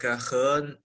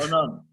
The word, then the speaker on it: Henan: And province right now, I'm in the the province in the middle part of China, which is written as Henan, which pronounced like Henan, something like that. Henan.